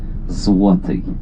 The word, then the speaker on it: Złoty: No, but when there's a stretch on L, letter L, it becomes W. Złoty.